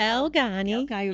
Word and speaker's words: Elgani: Is that how you pronounce it? Elgani. Yes. I got that right.